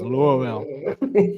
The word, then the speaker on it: Louisville: Louisville, pronounced by the locals as Louisville.